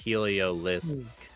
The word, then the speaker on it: Heliolisk: Yeah, if you look after the Helio, there's an L, so it's Heliolisk. Street name Heliolisk.